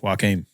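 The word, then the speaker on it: Joaquín: Joaquim.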